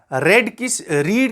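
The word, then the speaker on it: read: तो इसी तरह रीड की सेकंड फॉर्म है रेड, और स्पेलिंग सेम ही रहती है.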